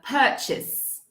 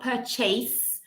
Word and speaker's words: purchase: this word okay uh purchase julia you're asking about this word we start with the idea of per per purchase purchase it's not per chase purchase purchase purchase okay sandra is